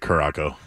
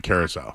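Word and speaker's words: Curaçao: I kept calling it Caraco, and I apologize to everybody in Curacao. Soft C. That's right.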